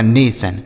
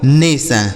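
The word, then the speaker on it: nation: ऐसे पढ़ा जाएगा नेशन। समझ गए? एन ए से हो गया ने और टी आई ओ एन से सन लिखा गया दोस्तों नेशन।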